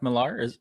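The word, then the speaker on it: Millar: superhero ones is that he pronounced his last name mark milar i think so i always said mark miller i thought it was mark miller too but i think in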